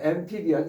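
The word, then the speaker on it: amphibian: 엠피비언 이거 PH가 여러 번 나온 건데 무성은 푸 발음이에요.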